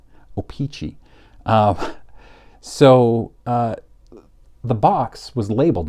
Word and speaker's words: O-Pee-Chee: Of course, tops is much cheaper than an O-Pee-Chee, but you're still talking about thousands of dollars for an unopened pack authenticated by PSA.